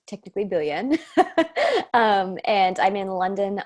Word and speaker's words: Biljan: fun stuff yeah absolutely i'm so belgian pronounced technically billion um and i'm in london ontario canada so